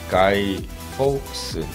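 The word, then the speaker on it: Guy Fawkes: 그리고 이제 지난 11월 5일이 이제 가이 폭스 이거 발음 잘해야 돼요. 폭스거든요.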